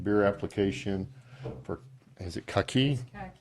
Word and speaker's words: Kaki: Yeah, item number 26, BB-BB03, request to approve beer application for, is it Kaki? Khaki.